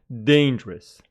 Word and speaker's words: dangerous: beautiful dictionary long man dangerous is an adjective with the stress on the first syllable dangerous dangerous dangerous but danger